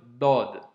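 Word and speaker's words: ضاد: Donc aujourd'hui, pour l'avant-dernière lettre de ces cours, on va étudier ensemble la lettre Dod. Donc elle se présente sous cette forme. Comme tu le constates, elle s'écrit comme la lettre Sod, tu vois, hein,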